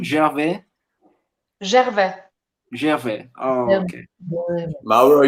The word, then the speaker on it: Gervais: And is the right pronunciation Gervais? Gervais.